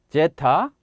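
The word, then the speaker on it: ζῆτα: 필요 는 없으며 , 한국어 'J' 발음 을 사용 하는 것 이 정확 합니다 . 한국어가 더 낫습니다 . 제타 (Zeta) 인데 , 길 게 발음 하다 보니 " 제타 (zetta)" 처럼 들릴 수도 있어 요 .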